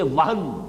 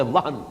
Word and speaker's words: وہن: بہت مرتبہ آئی ہے، صرف نوٹ کر لیجئے، وہن، ویسے یہ کہ تلفظ میں وہم جو ہے میم کے ساتھ، یہ چونکہ ہمارے ہاں عام طور پر لفظ استعمال ہوتا ہے، آپ کو مغالطہ نہ ہو، یہ نون کے ساتھ ہے وہن، اور وہن ہی سے